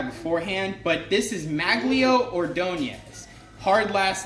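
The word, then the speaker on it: Ordóñez: I am mad at myself that I didn't know this guy beforehand, but this is Maglio Ordonez.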